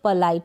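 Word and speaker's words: polite: पोलाइट या पलाइट, दोनों pronunciation यहाँ पर मैंने दिए हैं, तो आप पोलाइट या पलाइट दोनों तरीके से इसको प्रोनाउंस कर सकते हैं।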